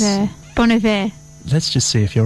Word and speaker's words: Bon Iver: I even heard on Triple J, they were pronouncing it Bon Iver. Oh, on Triple J. Bon Iver, yeah. I've forgotten how. Meaning good winter in French. Yeah. Bon Iver, yeah.